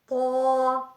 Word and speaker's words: ط: پر پڑھا جاتا ہے۔ طا طا لفظ طا پر پڑھا جائے گا، یعنی موٹا کر کے پڑھا جائے گا۔ اس کا تلفظ زبان کی نوک جب اوپر سامنے والے 2 دانتوں کی جڑ سے لگے تو اس سے لفظ طا طا ادا ہوتا ہے، یعنی زبان کی نوک